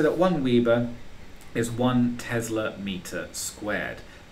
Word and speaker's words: weber: of the weber it's spelt weber but we pronounce it weber which is a capital w and a little b so we can say that one weaver is one tesla meter squared not tesla per